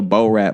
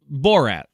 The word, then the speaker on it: Borat: ran like he was an extra in a Bo Rat movie.